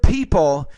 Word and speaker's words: people: When you use the word people, you have to pronounce that with more air.